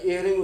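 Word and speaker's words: Jhering: तो एक सवाल सबसे पहले जेहरिंग, तो जे से लिखते हैं जेहरिंग होता है, वैसे एहरिंग उसको हिंदी में आप लिखते होंगे एहरिंग, तो उनकी स्पेलिंग जे से शुरू होती है, जे।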